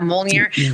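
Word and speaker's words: Mjölnir: How do you pronounce that? Mjolnir?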